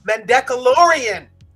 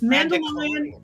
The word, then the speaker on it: Mandalorian: nico and then uh mandeckelorian did i say it right close close enough yeah how do you say it how do i say it it's uh mandichlorian it's mandalorian and my last name